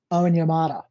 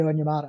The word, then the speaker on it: Onyemata: to sign him, is Onyemata. David Onyemata, I believe is how you say his name.